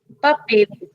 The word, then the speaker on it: papel: But when it comes at the end of the word, we don't say la. We say it like a U or a W. So here it is like an U.